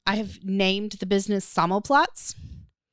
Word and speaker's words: Sammelplatz: I have named the business Sammelplatz. Say it again. Sammelplatz. It is. Spell it.